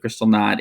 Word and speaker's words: Kristallnacht: The big one is Kristallnacht or Crystal Night, depending on how you pronounce it. Kristallnacht in the German.